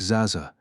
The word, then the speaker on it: Zaxa: His name was Zaxa. The short little word that tumbled out of my mouth, pronounced like Zaza, threw off the course of the metal rod that plunged toward my heart.